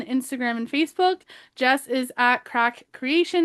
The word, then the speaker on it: craic: Jess is cracks, crack spelled like this podcast, C R A I C.